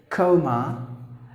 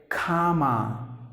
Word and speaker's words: comma: If you go to UK, and they would say it as coma, like is gone to coma, something like that. But if you go to US, they would say comma. That's how you have to pronounce the word.